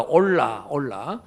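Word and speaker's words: עולה: 그래서 번제라고 하는 단어, 히브리어 단어가 올라, 히브리어 발음이 올라인데 단어의 의미가 한국말로 올라가는 거예요.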